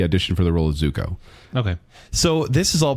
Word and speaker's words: Zuko: You say are- Zuka? His name's not Zuka Juice. No, I'm going to say it wrong. Like Danny Zuko.